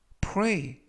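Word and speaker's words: pray: 이번 표현은 플레이 플레이 프레이 라고 발음 하시면 되겠구요 이때 조심 하실 것은 플레이가 아니라 프리 라고 발음 하시면 되겠고요 펌 사는 동사 뜻은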